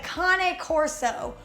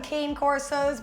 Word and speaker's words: Cane Corso: Number 6, the Cane Corso, or some people call them cane corsos, but that's not the way you should pronounce it.